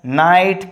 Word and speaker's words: knight: So in this case, you don't pronounce knee, knife, knight, knot, kno. No, only knee, knife, night, not, no. So in this case, K are understood or silent.